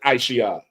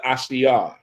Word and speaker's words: Ashia: No, don't say Aisha. Officer Ashia. Yeah, that's how you say it.